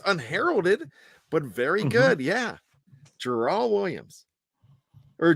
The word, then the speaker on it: Jerrol: I thought it was Gerald, but when you say how it's spelled, it's spelled with a J, right? Jerrol, I believe.